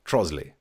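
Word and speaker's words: Trottiscliffe: It's spelt Trotter's Cliff, but of course the posh people, Trosley.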